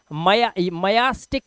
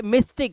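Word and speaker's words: mystic: वाई है, आया वाई, लेकिन यहां पर इसका उच्चारण मयास्टिक नहीं है, या नहीं है, मयास्टिक नहीं, ये मिस्टिक है, मिस्टिक।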